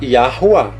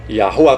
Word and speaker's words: Yahuwah: Na pronúncia fica assim, ó. Ia, porque o Yud vai ter som de A. Ali o W é som de U, que é um Vav, e outro A. Então a pronúncia seria mais ou menos assim, a portuguesada. Ó. A pronúncia, tá? Yahuwah. Yahuwah com R fraco, ok?